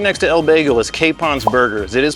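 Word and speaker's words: Capon: Right next to El Bagel is Kapon's Burgers. It is pronounced Kapon because it's by Chef Josh Kapon.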